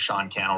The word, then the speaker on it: Sean Cannell: My name's Sean Cannell, rhymes with YouTube channel.